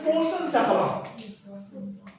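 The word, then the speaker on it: Prosencephalon: लेकिन इसका एक दूसरा नाम है, राइट, जो कम किताबों में मिलता है और बच्चे कम समझते हैं, प्रोसेंसेफलॉन, स्पेलिंग देख लेना, प्रोसेंसेफलॉन, राइट, PRO, प्रोसेंसेफलॉन, राइट, SEN होता है, C नहीं, SEN, प्रोसेंसेफलॉन।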